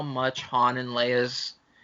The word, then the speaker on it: Leia: the movies do that we know it's han and leia not han and leah but the movies themselves